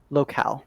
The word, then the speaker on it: locale: and then the the is this pronounced local or locale locale okay locale is the language